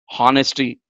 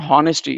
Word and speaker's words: honesty: Chaala mandi ippudu kuda our anamante hour, they call it as hover, honesty. It's not honesty, it's honesty.